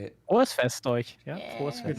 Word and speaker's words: Frohes Fest: Rohos Fest. that how you say it? Frohes Fest euch.